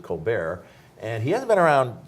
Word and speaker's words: Colbert: of Brian Colbert yeah smelled in coal Bert's but like like Steve Colbert of late-night TV Fame he also pronounces it Colbert and he hasn't been